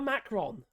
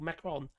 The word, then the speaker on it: Macron: People keep calling Macron. He's not a Macron. Or Macroni. Or Macron. Macron. Don't pronounce the N.